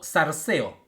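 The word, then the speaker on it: θάρσει: la palabra ten ánimo es la palabra darse o o darse o en pronunciación correcta del griego y significa confianza plena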